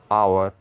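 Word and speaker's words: hour: एक बात नोट करना मैं साउंड की बात कर रहा हूं मैं स्पेलिंग की बात नहीं कर रहा नेस्ट में अ साउंड है इसलिए एन आएगा आवर में भी अ साउंड है तो एन आएगा एन ऑनेस्ट एन आवर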